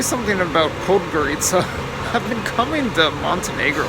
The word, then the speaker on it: Podgorica: I've always struggled on getting the pronunciation right. I finally think I'm saying it properly, Podgorica. But for years and years and years, and you might even notice that I pause and hesitate a little bit before I say it, because I would always get the emphasis on the wrong syllable.